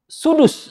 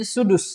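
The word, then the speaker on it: سدس: Nah terakhir sudus. Ini bacanya sudus ya. Ini bacanya sudus. Sudus.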